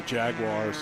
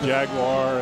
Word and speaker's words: Jaguar: that old Jaguar and James makes fun of the way I say that. How do you say Jag? Jaguar. Jaguar. Okay. Yeah. I'm way off. Extra syllable.